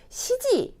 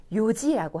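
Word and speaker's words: 四時: 조금 주의를 하시면 되는데 4라는 숫자는 아까 시 아니면 용이었어요. 그러면 시지 아니면 윤지라고 해야 되잖아요. 그런데 발음이 한 번 더 변화가 일어나서 요지라고 합니다. 시지도 없고 윤지도 없어요. 뭐라고요? 요지. 4시는 요지입니다.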